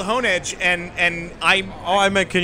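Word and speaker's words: Honedge: sword sound like well the thing is called hone edge and and I meant can you do the voice well I know but I'm telling you it's called honah sirs pokemon express themselves by saying their name or syllables of their names just why Pikachu is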